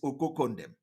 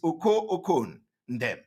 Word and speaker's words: Oko Ndem: Of course, the way to pronounce it these days is Okoko Ndem. So, but the name is Oko Ndem.